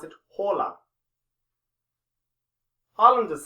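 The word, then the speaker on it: Haaland: norway they pronounce it hola harland has said this but he's also said that if you're not in norway then you can say harland i had to hold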